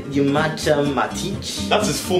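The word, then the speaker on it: Nemanja Matić: Did you just say Nemanja Matic?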